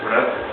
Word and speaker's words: Vreth: Doom on Doom here with the newest member of Finnroll, Matthias, or you better know as Vreth. That's how you pronounce it.